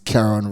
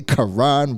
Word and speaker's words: Karen: preneur FM podcast episode my name is Karen and if you are from Canada or North America you're going to hear me say Karan from time to time cuz that's how they say it over there there but yeah this